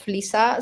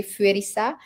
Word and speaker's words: Felisa: because I lived in Japan and they can't pronounce my name, you know, because I'm I'm called Felissa. So, they would say Fisa and then uh like